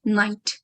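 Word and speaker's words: knight: we don't say um we don't pronounce the letter K at the start so we treat that K as a silent letter so this is similar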